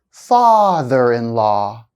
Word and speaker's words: father-in-law: Compound nouns often have stress on the first part. Listen carefully to the examples. I'll hold the stress for 1 second the first time. Greenhouse, greenhouse. Father-in-law, father-in-law.